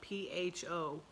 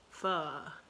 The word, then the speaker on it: pho: It's spelled P-H-O, pho. Or if you have an accent, it's pho.